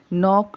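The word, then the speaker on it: knock: नौ वड़ा या बच्चों स्टार्टिंग में देखिए नॉक नॉक नॉक तो 9 की स्पेलिंग है कि एन ओ सी के अच्छा ठीक है अब इसमें के जो पहला अक्षर है वह साइलेंट है कि हमने एनओसी के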